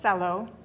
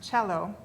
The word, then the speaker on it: cello: word cello looks like cello or kello but it's actually pronounced cello the c is like the ch in chicken chicha or cheese and